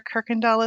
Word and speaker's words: Kuykendall: our actual neighbors and my good friend Alexandra Kuykendall is here so welcome welcome hi Trisha I know it's a friend when you pronounce my name correctly oh I just wish